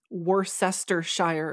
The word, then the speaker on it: Worcestershire: actually pronounced uniqueland kind of like how a Worcester Shire is pronounced Worcestershire yeah I guess it makes sense